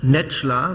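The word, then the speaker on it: Necla: Frau Netschler, so haben Sie mir gesagt, wird Ihr Name ausgesprochen, Kelleck, Autorin, Soziologin, Frauenrechtlerin, sie ist die prominenteste Islamkritikerin in Deutschland.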